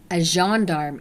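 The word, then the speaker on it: gendarme: other law enforcement agencies aarm is how you say it and they are a French police officer which makes sense because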